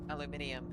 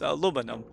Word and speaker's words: aluminium: Aluminium. You're still saying alonymium. Em. You can't even pronounce it. Of course I can't pronounce it because I know how it's spelled. It's aluminum.